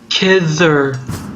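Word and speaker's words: Khidr: It's like, the D isn't pronounced like a D so much as like a CH, a th sound, so it's like Kidder.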